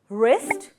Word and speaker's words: wrist: And the next option is we use silent W like right, wrap, wrist and wrong. Here W is silent.